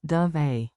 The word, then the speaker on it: dov'è: Sounds like dove eh.